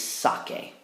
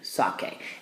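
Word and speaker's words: saqué: sound back in there I need to get a cuss on back in there well how do we do that in Spanish well the answer is in Spanish we don't use K's we use Q U's so the yo form of sakar is sake q-u-e sake and now I have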